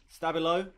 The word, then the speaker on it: Stab1lo: so this is going to be frantic versus stabo did I pronounce that right ask you did you did great stuff I'll follow I'll follow stabo so that uh you don't have to pronounce